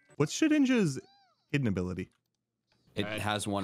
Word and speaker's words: Shedinja: I just hated that you pronounced its name wrong. But it's Shed Ninja, right? No, it's Shedinja. Why would it be called Dinja? Yeah, there's no N before the I.